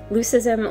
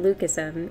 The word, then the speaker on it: leucism: Leucism, or as some pronounce it, leucism, is a genetic condition where color pigments are lower.